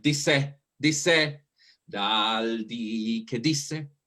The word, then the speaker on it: disse: Remember that the accent is on D. I know that you want to do that rhythm, but it sounds like disse, disse, dal di che